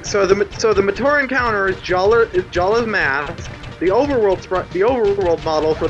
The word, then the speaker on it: Jaller: Jala. That's how it's fucking pronounced.